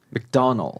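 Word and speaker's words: McDonald's: 미국에서는 맥도널드 네. 이렇게 발음을 하고요.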